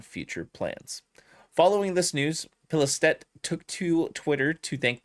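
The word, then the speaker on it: Pilestedt: Arrowhead Game Studios CEO Johan Pilistet. Pilistet. Okay, so I said it right the second time.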